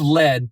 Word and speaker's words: Lead: Is the town of Lead pronounced lead or lead? The town of Lead in South Dakota is pronounced as lead.